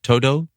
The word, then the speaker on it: Todo: And the Japanese pronunciation again is ToDo?